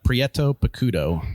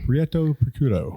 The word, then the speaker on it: Prieto Picudo: I still can't pronounce enunciate it. Prieto It's hard to say, too. Uh Prieto Picudo. Prieto Picudo. Yeah. Yeah. Prieto Picudo.